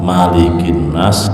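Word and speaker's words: مَلِكِ النَّاسِ: sisi pembacaan bedakan antara Malikinas dan Maliki yaumiddin. Ya, sama-sama Malik. Kalau dalam surah an-Nas bacanya cepat Malikinas. Tapi kalau dalam surah Fatihah Maliki yaumiddin. Satu alif.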